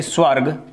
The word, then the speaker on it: स्वर्ग: चलिए जैसे अब और एक शब्द देख लेते हैं, स्वर्ग। स्वर्ग, तो देखिए रे का उच्चारण कहाँ है, से, वे, रे और गे।